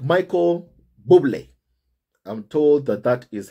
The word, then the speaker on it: Bublé: And Harry and Meghan were joined at their table guests, you know, with friends like Michael Bublé. I'm told that that is how my family is pronounced.